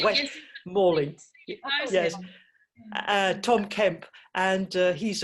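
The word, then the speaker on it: West Malling: West Morling.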